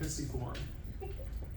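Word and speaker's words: pisiform: triquetrum and the pisciform that is how you say it pissy form it's the smallest by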